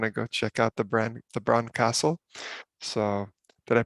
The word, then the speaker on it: Bran: and I want to go check out the Bran Castle. So did I pronounce that correctly? Yeah, Bran.